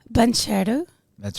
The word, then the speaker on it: Bancherau: friend and guest, Bancherau. That's right. Did I say it right? Absolutely. Perfect. Bancherau. Bancherau. Yeah, Thank you said you. it with a nice French accent.